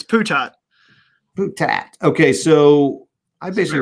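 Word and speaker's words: Putot: Brettville, as David has given us permission to pronounce. The attack on Norey and Bassin, Brettville, and Puto. I should just stop. It's just Putat. It's Putat.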